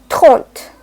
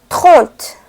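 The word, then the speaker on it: trente: So how 30 can be pronounced? Taunt. Taunt. Taunt.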